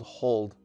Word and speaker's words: HODL: Our last strategy is called hold. Now you'll notice that it's spelled HODL.